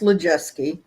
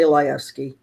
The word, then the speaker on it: Lajewski: i'm gonna give you a little correction it's pronounced lejeusky legeske well i was close yeah i got some